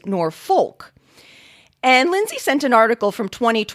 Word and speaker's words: Norfolk: hoy from smithfield virginia wrote about the different pronunciations of norfolk spelled n-o-r-f-o-l-k i was so delighted to hear norfolk virginia